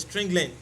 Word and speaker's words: strlen: One of them is strlen, which is the real pronunciation is string len.